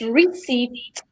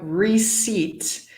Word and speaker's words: receipt: credit, 5, return, 6, receipt, and 7, return policy. Lovely. So let's remind everyone the pronunciation of receipt. The P is silent.